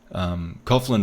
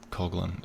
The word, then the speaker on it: Coughlin: Coughlin is still... Or Coughlin, actually. I think Coughlin is how you pronounce it.